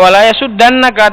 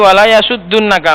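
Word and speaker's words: ولا يصدنك: Maka di situ enggak wala yasudannaka, tapi wala yasuddunnaka. Maka banyak anak itu kalau ngfal keliru di situ bacanya. Wala yasudannaka. Keliru yang benar wala yasuddunnaka karena aslinya itu yasudduna.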